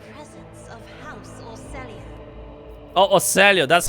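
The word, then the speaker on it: Orsellio: are in the presence of house oselia oh oselia that's how you pronounce it oelo with leader Doctrine oh she's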